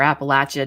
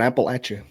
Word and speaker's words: Appalachia: When people say cryptids in Appalachia, I think of, or Appalachia, depending on how you say it or where you're from. But throw an Appalachia.